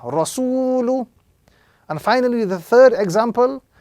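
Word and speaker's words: رَسُولُ: So this example will be correctly pronounced rasulu, with the prolongation on the second letter because of the waw madda, rasulu.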